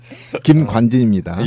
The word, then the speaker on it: 김관진: 광진 말고 몇 년 동안 그 발음이 안 됩니까 지금? 김관진 됩니다 발음. 당신들이 잘못 들은 거예요.